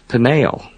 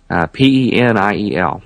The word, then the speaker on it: Peniel: Jacob names that place Peniel, P-E-N-I-E-L, slightly different spelling, Peniel, almost identical pronunciation, could be just a coincidence.